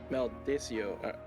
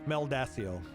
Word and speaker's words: Meldacio: Maldacio. I'm probably mispronouncing it because you're correct. These are pronounced. Meldacio.